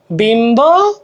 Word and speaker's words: বিম্ব: ব অথবা ময়ের সাথে বফলা যুক্ত হলে বয়ের উচ্চারণ অবিকৃত থাকে। লম্ব, লম্ব, দেখো লম্ব, লম্ব, বিম্ব, বিম্ব, লম্ব, লম্ব, বিম্ব, বিম্ব, এইভাবে উচ্চারণ। তো এটা একের খতে আসলে